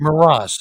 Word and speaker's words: Moross: The film is called The Mountain Road, and the composer is, hopefully I'm pronouncing this correctly, Jerome Moross. Actually, it's Maras, I believe. Moross, excuse me.